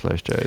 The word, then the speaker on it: Lesja: Nick from LESJAMUSIC, or how do you pronounce LESJA? Is it LESJA? So if you're from the village in Norway Okay. that I have co-opted to name myself after, I think you say Lesja. Lesja music. Lesja. Lesja.